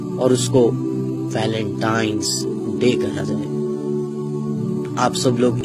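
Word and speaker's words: Valentine's Day: नाम पर गौर करें इसे जो आम कहा जाता है यह वैलेंटाइन डे है लेकिन हकीकत में जो इसका प्रोनाउंस एशन है वह है वैलेंटाइंस डे य वैलेंटाइन वाला दिन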